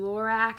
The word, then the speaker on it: Lorac: brand is pretty expensive I always say it wrong lorac I believe is how you pronounce it Anastasia I have a